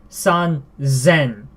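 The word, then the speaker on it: 三千: But an exception to this is 3,000, san zen.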